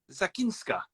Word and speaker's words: Zachynska: can see is um correct me if I'm pronouncing yourself is it zakin oh you're Frozen Frozen at my terrible pronunciation